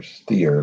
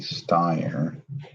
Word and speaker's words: Steyer: I think it was at that, because I remember Jackie, as I like to call her, Steer, but apparently I've been pronouncing it wrong, Jackie Steyer, Copper Jackie.